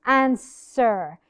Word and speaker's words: answer: When the S comes before the W, when the S appears in a word before the W, ال W بتكون silent. Answer.